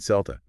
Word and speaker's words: Celta: And then we meet Celta, pronounced with a hard C, like Celtic.